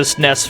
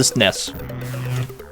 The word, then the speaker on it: SNES: That's far too many syllables, so to me it's the SNES. You got me fucked up. Four syllables in this acronym?